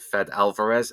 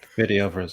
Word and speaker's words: Fede Alvarez: And the guy who directed it, Fed Alvarez, if I'm pronouncing his name right. Fede Alvarez, yeah.